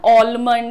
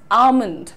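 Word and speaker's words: almond: Next देखिए, बादाम को अंग्रेजी में हम कहते हैं ऑलमंड, एलमंड, पता नहीं कौन कौन सा, लेकिन आपका प्रोनाउंसिएशन में एल जो है साइलेंट है। The correct pronunciation is आमंड, आमंड।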